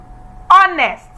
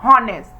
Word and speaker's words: honest: The third one, honest and not honest.